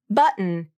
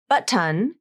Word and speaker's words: button: syllable only has the N consonant in it button is the more natural pronunciation Buton with the true T and the schw vowel